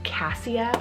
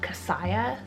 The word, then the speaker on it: Cassia: It either can be Cassia or Cassia. It's spelled C-A-S-S-I-A.